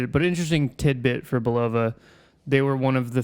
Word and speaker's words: Bulova: It was a Bulova watch company. Now, did I pronounce that right?